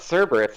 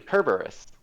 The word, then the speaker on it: Cerberus: is it like a Latin doesn't have any soft C's oh yeah that's why like it's not Cerberus it's actually kerberus yeah or it could